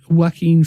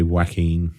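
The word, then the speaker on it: Joaquin: a completely different Direction in a good way wackin Phoenix or jacqu Quinn Phoenix I never know how to say his name I say wacken yeah yeah he was offered the role of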